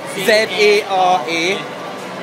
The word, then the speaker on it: Zara: Z-A-R-A. As in Sarah, but Zara.